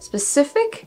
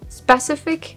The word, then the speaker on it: specific: it in English May specific specific spec oh yeah I guess it's a problem of which syllable you're going to you're going to emphasize again it's always about